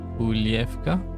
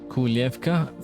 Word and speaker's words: Kujlevka: No, the spelling is Kujlevka, but I think the pronunciation might be different. I think the J sounds a bit like Y. Kujlevka.